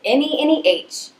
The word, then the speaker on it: Neneh: And as a true descendant of my mama, I changed the spelling from N-I-N-A to N-E-N-E-H with a long sign over the first E, so it's pronounced Neneh, not Neneh.